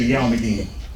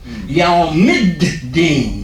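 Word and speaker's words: يوم الدين: And that's a sound that most of us are too lazy to make. We just say yawmideen. Yawmid-deen.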